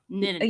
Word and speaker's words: Nittany: Did I pronounce that right? Is it Nittany? Nittany.